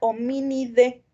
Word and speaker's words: Hominidae: están dados en latín entonces en latín cuando tenemos terminaciones hay solamente se pronuncia la y entonces la familia a la que pertenecemos es la familia o mini d por ejemplo la familia